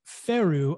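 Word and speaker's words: Faroe: paper from children in the faeru islands is apparently how you pronounce it levels of pfas have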